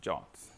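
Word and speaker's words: JWT: that session was I now know how to pronounce jots so that was that was great uh well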